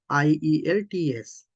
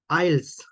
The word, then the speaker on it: IELTS: like this IELTS IELTS they just pronounce they just read this as a word IELTS right you can hear this the word IELTS that means IELTS then some people even call these eyelids eyelids but it's not quite